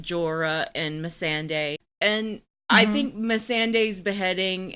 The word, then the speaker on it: Missandei: Missandei.